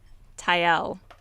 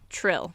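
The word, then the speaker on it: Trylle: pronounce it true true so I used to I used to just say like in my head Tyle but Trill okay yep I assume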